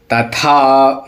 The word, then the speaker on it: तथा: समह सत्र च मित्र्रेच तथा माना पयो हम हिंदी में तथा बड़ा लाइटली बोल देते हैं लेकिन संस्कृत में महाप्राण होता है था तो था का उच्चारण पावर के साथ में होना चाहिए तथा माना पयो सीतोषण